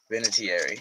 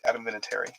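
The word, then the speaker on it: Vinatieri: Vinitary you think, but it's actually just Adamitary.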